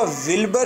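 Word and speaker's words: Wilbur: लिखा हुआ विल्बर है, आपने प्रोनाउंस करना है वल्बर।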